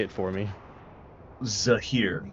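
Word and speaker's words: Zehir: Zahir.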